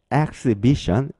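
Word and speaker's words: exhibition: 전시회라는 뜻을 가진 단어 exbition exbition이 단어가 있는데요 앞에 있는 e x 여기에서이는 xx 이렇게 발음해 주시면 되고요 자 x 다음에 h h 발음되지 않죠 그리고 아가 2로 발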